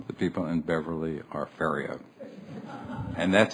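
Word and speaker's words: Ferriero: about this I say are you sure he pronounced his name fio but when I look at it it should be Fiero Fiero but that's the way what I I would pronounce it but uh why is it pronounced uh fio I sure that it's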